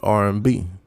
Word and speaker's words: Aryanbe: We are called R&B, but we spell it ARYAMBE, but you pronounce it R&B.